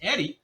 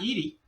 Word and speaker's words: Eddie: and I'm being corrected the pronunciation is Eddie not Edy so my apologies there